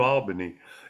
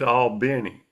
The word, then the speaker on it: Albany: The same thing I had to learn the hard way goes for New Albany. It's not Albany, it's all Benny.